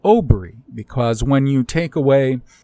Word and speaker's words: OBRY: equivalent of our modern Oh be our Y Aubry from if you're white and northern or Western European Germanic anglo-saxon Celtic it would be your great ancestor Ober not Eber or Heber you can actually see